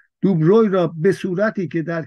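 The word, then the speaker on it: de Broglie: بر بر بر دوبروی البته خیلی تلفظش دوبروی درست نوشته نوشتنش عجیبه عجیبه عجیبه د د د بروی نوشته میشه دوبروی خونده میشه دوبروی را به صورتی که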